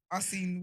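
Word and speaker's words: Arsène: Arsene Wenger?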